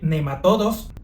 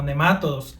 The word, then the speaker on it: nematodo: Aunque normalmente se escucha pronunciar las palabras como "nemátodos", "céstodos" y "tremátodos", lo cierto es que gramaticalmente si fueran palabras esdújulas deberían de llevar acento, pero como no lo poseen, la manera correcta de pronunciarlos es nematodo, cestodo y trematodo.